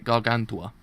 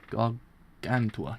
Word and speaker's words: Gargantua: Let me let me just kind of take 5 seconds to actually kind of pronounce that word. Name actually. So it's is it Gargantua? I say Gargantua. Gargantua.